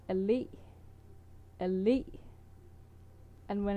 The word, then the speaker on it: allé: Like you put the pressure on the last letter in avenue, where you yeah.